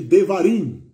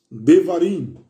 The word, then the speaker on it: Devarim: No hebraico, ele tem o nome de Devarim. Devarim. E se escreve conforme a pronúncia mesmo, tá bom?